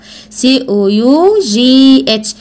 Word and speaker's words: cough: كحة كف COUGH. كحة كف COUGH. كحة كف COUGH كحة كف COUGH. كحة كف COUGH. السي هنا بتتنطق كي يا محمد. السي هنا بتتنطق كي والجي اتش بتتنطق اف.